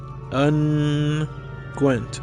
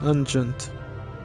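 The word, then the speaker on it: unguents: Alternative pronunciation. Unent like pungent. Uh, I'm going to go with unent preferred pronunciation. Alternative unent. Oh, an unent is a soothing ointment or salve. Hm. To guess. Technically either one is correct.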